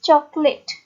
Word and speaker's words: chocolate: तो बात क्या यहाँ पे आती है कि यहाँ पे जो ये ओ है इसकी साउंड जो है वो हिडन होती है, that's why इट इज चॉकलेट।